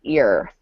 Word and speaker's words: you're: This is going to sound like your.